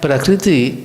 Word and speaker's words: prakriti: But prakriti, kriti, it is ka and rikara. Just one consonant with the vowel ru.